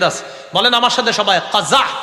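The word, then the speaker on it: قزع: বলেন আমার সাথে সবাই কজা বলেন আবার বলেন কজা কাজা কফ যা আইন বানানটা কজা বলেন কজা কজা করা নিষেধ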